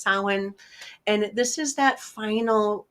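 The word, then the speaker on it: Samhain: It looks that samine, but it's actually pronounced sin.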